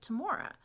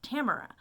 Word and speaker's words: Tamora: when they pronounce it tamora but it's it's not pronounced tamora but but how would they know that unless they've actually been in an audience where she says no my name is pronounced tamara so i mean yeah